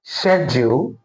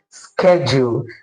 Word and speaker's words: schedule: Now, the British pronunciation of this word is schedule, while the American pronunciation of this word is schedule. Okay. So if you're pronouncing the word as schedule, you're not wrong. You're correct. If you're pronouncing the word as schedule, you are also not wrong because it has two